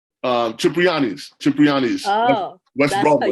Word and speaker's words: Cipriani: at he was eating at that place on Soprani? Cipriani's.